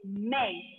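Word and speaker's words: mais: Without trema symbol, when you have this word, the pronunciation is may. S will be silent and the pronunciation is may.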